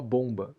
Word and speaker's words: bomb: A palavra bomba em inglês a gente escreve bomba, mas a pronúncia em geral é bomb. Não se diz o último B e o O vira uma vogal próxima do que se grafaria com um U, na verdade. E por alguma razão que